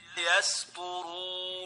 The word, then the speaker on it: يسطرون: This is not a sad, this is a sin. So the right way of pronouncing it is like this. يسطرون Yasturun. Sin followed by a ta.